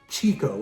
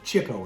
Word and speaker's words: Chico: 1961, Leonard Chico, or Chico actually is the correct pronunciation, Marx of the Marx Brothers.